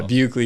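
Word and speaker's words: Buchele: my Instagram is uh you have to spell that yeah bugley is a weird one it's b-u-c-h-e-l-e is it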